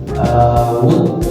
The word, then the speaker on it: would: Nah, di past future tense teman-teman bisa menggunakan rumus yaitu would and should. Sebelum kita lanjut kepada pembahasan rumus, untuk pronounce-nya teman-teman bisa membaca teman-teman tidak perlu membaca L-nya, jadi langsung aja would and should.